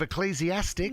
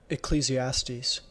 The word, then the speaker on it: Ecclesiastes: you just didn't listen I've never heard of ecclesiastics no I've never heard of is that an